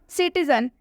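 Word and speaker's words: citizen: सिटीजन, सिटीजन में सी के बाद क्या आया है? सिटीजन में सी के बाद आई आया है, इसलिए हम सिटीजन में सी को स से प्रोनाउंस करेंगे। यहाँ पर सी का उच्चारण स हुआ है।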